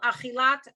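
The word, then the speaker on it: אכילת: Chilat. Chilat. Pilat. Oh, good. You had it right the first time, but you didn't pronounce the t at the end, but it's good.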